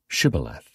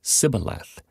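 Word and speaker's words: shibboleth: said no I'm not they would tell him to say shth if he was from Ephraim he would say cile because people from Ephraim cannot pronounce the word correctly then they would take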